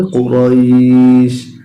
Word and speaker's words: قريش: যখন আমরা এখানে থেমে যাব তখন উচ্চারণটা হবে কুরাইশ।